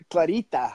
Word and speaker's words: Clarita: Yeah, without the roll of the R. Clarita.